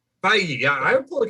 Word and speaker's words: Feige: Feige. Feige.